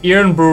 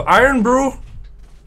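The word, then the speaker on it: Irn-Bru: he spin quite fast you say it like iron so iron Brew iron Brew yeah that's probably it I have no idea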